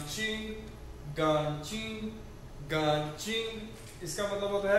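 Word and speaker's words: 干净: आई एन जी चिंग न चिंग गन चिंग गां चिंग इसका मतलब होता है क्लीन साफ सुथरा ठीक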